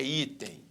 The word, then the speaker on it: item: Qual é a sílaba tônica em item? É item ou é item? É item. Então, aqui a sílaba tônica está aqui. Então, nós temos uma paroxítona.